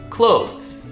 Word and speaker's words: clothes: not correct okay so the trick here is the two consonant sounds back to back it's the voice th the and then Z right after so you just got to practice and take it slow clothes you know it's going to get more comfortable for you for sure the more you do it but yeah a lot of native speakers even say close as in close which is weird so don't make that